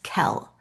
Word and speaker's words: Kell: Um okay, so it's alen and then the male main character, his name is Kell. So it's it's like what pronounce K like you would pronounce it K E L L K.